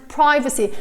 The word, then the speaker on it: privacy: you pronounce ski and privacy? So it's either privacy or privacy. You can say both. I tend to say privacy or privacy. Privacy, maybe more privacy. Privacy, both is acceptable.